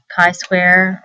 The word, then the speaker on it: chi square: get the same data Kai Square rhymes with I uses the Greek letter